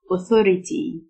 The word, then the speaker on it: authority: سلطة أو هيئة authority، T-H تنطق فه، authority.